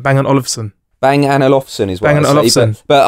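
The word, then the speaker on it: Bang & Olufsen: the best way to the best way remember how to say it is think of that tiny temper song where he says bang an alfson okay so you say it like that bang and olivon bang Anson is what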